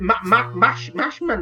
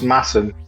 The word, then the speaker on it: Masham: Mashman? No. Masham, but pronounced Masham because it's weird in Yorkshire. Imagine it's got two S's rather than an SH in it, So and it's it's Masham cider press.